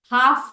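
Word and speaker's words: half: Walk हुआ, talk हुआ, हाफ हुआ, हाफ में भी L साइलेंट है।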